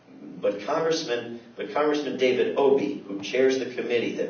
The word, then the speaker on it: Obey: calls to Congressman David Obie it's spelled like obey uh appropriately enough um